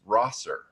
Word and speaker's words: Rosser: And I had to like find some videos and be like, oh, okay, it's Rosser.